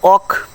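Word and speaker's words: walk: ওকে, দেখো এখানে রয়েছে এই যে ইংরেজিতে এমন কিছু শব্দ আছে যেখানে এল থাকা সত্ত্বেও এলের উচ্চারণ হয় না। শব্দগুলো কি কি এখানে উচ্চারণ এবং তার অর্থ সহ দেওয়া আছে। ওকে, দেখো এখানে আছে অক শব্দের অর্থ হচ্ছে হাঁটা,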